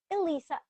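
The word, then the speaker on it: Alessa: Because it looks like a L E SSA. So that's all I have to say. I have to say Alyssa. Alyssa. Yeah, that's that that's when I introduce myself. I say my name is Elissa. Elisa is how you're gonna hear me say it.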